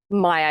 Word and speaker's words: Maya: Is it Meyer? Maya, yeah, that's right.